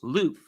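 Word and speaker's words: l'œuf: And the French word for egg is lof, the pronunc pronunciation, I should say, which is too far removed from the English love.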